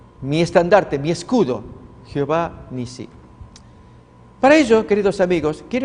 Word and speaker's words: Nisí: Y Moisés edificó un altar y llamó su nombre Jehová Nisi. Jehová es mi estandarte o Jehová Nisí es la pronunciación más correcta.